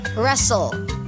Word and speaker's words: wrestle: our word is wrestle wrestle is divided into two syllables una syllable res silent w and second is seoul so silent t wrestle wrestle meaning to take part